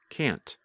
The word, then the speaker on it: can't: And if you are speaking and want to be very clear, simply pronounce the letter T, like can't.